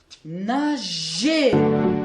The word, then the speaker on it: nager: Nager, ici le G se prononce je.